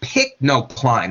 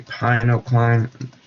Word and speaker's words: pycnocline: one on the right is showing you the pycnocline. I think, isn't that spelled wrong? I thought it was a pinocline. Let me double check that for a second before I, might not be a pinocline.